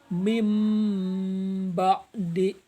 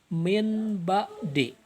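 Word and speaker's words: من بعد: Serta contoh yang ketiga adalah mim ba'di. Ini pakai m, bibirnya balem. Mim ba'di. Ini enggak dibaca min ba'di atau dibaca ming ba'di, tapi pakai m.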